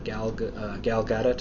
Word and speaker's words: Gal Gadot: Second part of news is we did get to see Gal Gadot. That's how I understand she pronounces it.